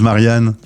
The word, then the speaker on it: Marianne: les les Italiens disent Marianne euh alors je leur prononce toujours Marian puisque le E se prononce e parce qu'autrement c'est la